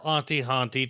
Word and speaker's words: Auntie Hauntie: That's Auntie rhymes with Hauntie. Or Auntie with an H in the middle if you prefer.